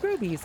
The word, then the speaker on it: Grovies: I used to pronounce it Groves, and then I heard their radio commercial and I was like, what's this nursery called? Grovies.